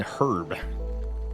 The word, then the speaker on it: herb: kind of insane say why do I pronounce the h in herb because silent letters are